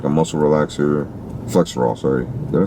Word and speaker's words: Flexeril: There was a plethora of prescription medication bottles, Xanax, Flexeril, which is like a muscle relaxer. Flexerol, sorry.